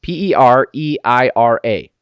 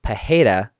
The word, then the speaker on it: Pereira: see here number 14 p-e-r-e-i-r-a exactly the same but I hear them pronounced differently I heard it was Alex pajeda and it's Michelle Pereira they're both Brazilian I I don't know